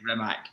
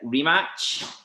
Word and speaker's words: Rimac: It was the fact that it's a chart sound at the end of Rimac, but we all say Rimac. But yeah. So how do you pronounce it, Charlie? Like rematch. Rematch. Oh, I learned something. I don't know. Yeah, because it's Mate's second name, so when he says it, it says rematch.